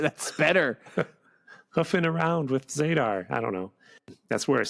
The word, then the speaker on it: Zadar: 89 oh good yeah hell Zar it's zadar it's spelled z a d a r exclamation point cow from